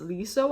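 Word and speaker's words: Leeseo: about the pronunciation and said it's with an L. So it's Liso, I hope.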